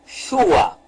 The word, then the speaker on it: Yahushua: O nome é Yahushua. Agora, então, sabemos o nome e nós devemos pronunciar corretamente. Devemos, então, largar de mão qualquer nome que não seja o nome verdadeiro do Messias.